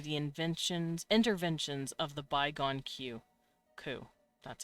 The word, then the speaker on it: Qu: Their world lay under a scorching sun, its intensity made monstrous through the interventions of the bygone Ku. That's how you pronounce it.